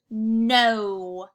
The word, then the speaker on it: no: So our N makes that N sound. And we have our long O, which makes our O sound, and not that OO sound we've seen.